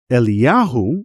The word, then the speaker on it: Eliyahu: protects a man named Eliyahu, which is translated in English as Elijah, but it's not Elijah, the prophet from the Bible. So one of these texts, protects this man named Eliyahu, son of Esther, from